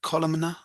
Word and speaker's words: columnar: Columnar?